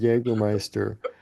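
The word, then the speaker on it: Jägermeister: Germans pronounce the letter um J as we do the letter Y. So um you know hence the pronunciation of Jaggermeister which literally translates to hunting master or hunt master.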